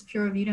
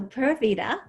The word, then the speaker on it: Pura Vida: But before we go, I think I know what Pura Vida is, but for the listeners, what does Pura Vida mean? So Pura Vida, or you can also pronounce it Pura Vida, more like Pura the Vida.